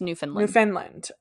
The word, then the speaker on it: Newfoundland: So you spelled it correctly, but it's pronounced Newfoundland.